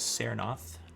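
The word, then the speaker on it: Tsernoth: time dm um so the wizard's name is saranoth t-s-e-r-n-o-t-h which i think i mispronounced the first time through pardon me and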